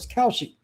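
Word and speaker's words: Kalshi: Cowshi is spelled K A L S Hi.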